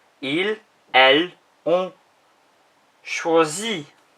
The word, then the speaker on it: choisit: Il, elle, on choisit. Sounds the same, but it's IT rather than IS. The T isn't pronounced.